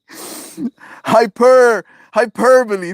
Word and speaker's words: hyperbole: Hyperbole.